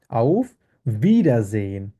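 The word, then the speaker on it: Auf Wiedersehen: করি কি ভিডা আর এটাকে ডব্লিউ কে আমরা যার মানে কিভাবে উচ্চারণ করি ভে উচ্চারণ করি ইংলিশে যেরকম ভি আছে ভে এর মত আমরা উচ্চারণ করি তাহলে কি এবং এটা উচ্চারণ কিভাবে হবে ভিডা ভিডা মানে হচ্ছে এগেইন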